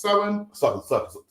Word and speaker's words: Samhain: We're going to give you the complete history it should be of Samhain, pronounced Samhain.